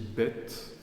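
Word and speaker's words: בית: lettre là bête elle elle se dit bête bête ou B ça veut dire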